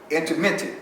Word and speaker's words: intermittent: No, they got something called interum fasting. Intermittent.